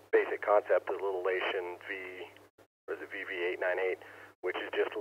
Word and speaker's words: Leixen: I've actually been doing a little bit of research on the, I think it's pronounced Leixen, L-E-I-X-E-N, model VV898, the backpack model, which I think they put like an SP or something on the end of it.